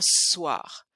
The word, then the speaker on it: soir: Je fais rien ce soir. Et aussi, notez bien comment je prononce soir. Je prononce pas soir, mais soir. C'est comme s'il y avait deux sons.